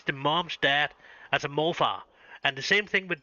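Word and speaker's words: morfar: It's actually it's actually a name pronounced on itself and it's pronounced morpha.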